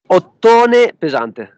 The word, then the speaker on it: Ottone Pesante: All right, Clint from the doorway too, hanging out with, I think it's Ottone Pesante. Is that how you say it? Ottone Pesante.